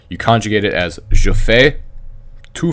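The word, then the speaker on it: fais: conjugate it as Jo Faye - Faye ile-fay and remember because you don't pronounce the consonant on the end of the word they sound the same even though they're spelled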